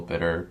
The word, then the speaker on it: bitter: little bits either way a lot of times when you see two t's in the middle of a word typically when you say it in a sentence it becomes a d sound so little bitter butter